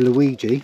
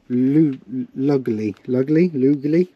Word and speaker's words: Lugli: I remember how to say this, because I say Luigi, but it's Claudio Lugli.